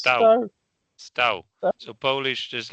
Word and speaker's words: Stow: It's pronounced sta. So Polish just like he stood. It's it's exactly like past tense of stand in Polish.